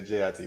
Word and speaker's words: jit: Everybody was arguing over how to spell it, whether it's G-I-T or J-I-T, but it's J-I-T.